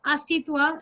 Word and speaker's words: assieds-toi: But because we pronounce asitwa like this, so there are people who write asitwa, but the exact orthograph should be asi.